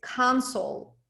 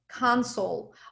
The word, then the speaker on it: console: It's console. Console. Ударение на первый слог.